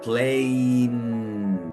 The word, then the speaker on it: plane: avión que se escribe Plane como la partirían pla Ne la es muda pla termina en vocal tiene el sonido abierto decimos Plain Plain con la palabra tiempo